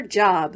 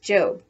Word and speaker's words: Job: going off to her job which in the bible is pronounced job remember that the one